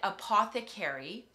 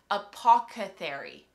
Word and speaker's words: apothecary: I figured out that I've always said Apothecary apoca Theory so I put a c in there like an extra syllable apoca Theory and I've